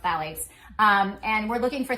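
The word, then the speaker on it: phthalates: It's spelled with a ph, but it's pronounced phalates.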